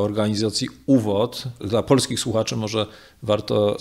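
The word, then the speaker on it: ÚVOD: To znaczy oczywiście było takie jego kierownictwo, mówię tutaj o organizacji UWOD. Dla polskich słuchaczy może warto rozwiązać ten akronim, że on znaczy wstęp. Sam akronim wymawiany jako jedno słowo znaczy wstęp, natomiast rozwinięcie tego skrótu to było Ustrzedni Wereni, czyli Centralne Kierownictwo.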